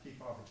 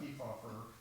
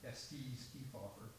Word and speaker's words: Kefauver: um they talked about ke offer uh whom they Mis pronounce his name they called him s keer and and called him